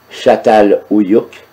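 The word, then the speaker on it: Çatalhöyük: Satal Uyuk, Satal Uyuk, que l'on prononce aussi Chatal Uyuk, est un village dont la fondation remonte aux environs de 7000 ans avant Jésus-Christ.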